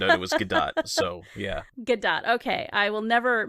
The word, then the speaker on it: Gadot: and then found out she died so yeah good dot okay I will never mispronounce it again but like she is just